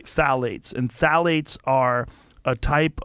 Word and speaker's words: phthalates: the introduction of phthalates it starts with a p p t h a l a t EES I think it's how you spell it you say phthalates and phthalates are a